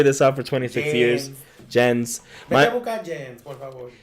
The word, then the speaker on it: Jensen: Jensen. My mom says my name in Spanish like it ends with a G. Like Jen.